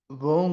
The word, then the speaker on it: bon: Combien de temps faut-il pour préparer un bon gâteau et à Très bien, c'était ça, un bon gâteau, un bon gâteau. Eso nivel de pronunciación va a ser bon, ¿d'accord? Bon, así cerrado, bon.